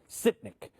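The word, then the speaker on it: Sytnyk: guy artem how do you say his name sitnik okay he's the first director and what's great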